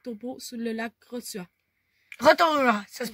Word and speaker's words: Rotorua: Boue brûlante, les marmites de Rotorua, et c'est situé, checkez ça, Guy.